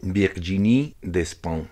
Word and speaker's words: Virginie Despentes: trago quiero hablar sobre virginie de spam creo que así se pronuncia en todo caso se escribe virginie despentes una escritora francesa que